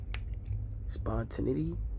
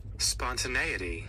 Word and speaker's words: spontaneity: learn words spontane spont how do I pronounce that spawn Spontinity.